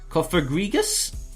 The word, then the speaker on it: Cofagrigus: Cofagrigus?